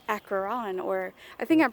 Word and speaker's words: Acheron: driving up I saw a sign that said Akron or I think I'm pronouncing it right it's about a CH ER